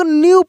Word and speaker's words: knew: जैसे यहाँ पे देखिए लिखा है KNEW, इसमें जो है के, यह के साइलेंट है यानी यहाँ पे हम लोग न्यू पढ़ेंगे, क्न्यू नहीं न्यू पढ़ेंगे, ठीक ना।